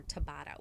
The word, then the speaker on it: Tabata: YouTube called search for a YouTube search for Tabata, which is spelled T-A-B-A-T-A.